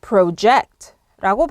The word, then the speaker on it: project: 자, 동사로 쓰일 때는요. 조금 생소하실 거예요. 이거는 project라고 발음하셔야 됩니다. 액센트가 eject에 오는 거고요. eject도 살짝 길게 빼셔야 됩니다. 그래서 project. 여기서는 P-R-O 앞에는 pro라고 안 하고요. pro라고 발음하셔야 됩니다. project.